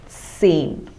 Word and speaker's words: zehn: 10 is zehn. So like I have discussed in the previous slide, Z takes the pronunciation of TS, like in mats. bats.